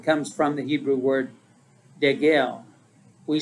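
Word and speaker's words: degel: father's house standard comes from the hebrew word de gel we spell it d-e-g-e-l and it means a flag or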